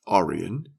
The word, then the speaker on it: Orion: to Alvin Alba or Orion pronounced Aryan with the accent on the first whether they are indeed